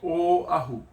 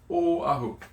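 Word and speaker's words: Oʻahu: Now, some Hawaiian words that we see the letter O in is like O ahu. O ahu.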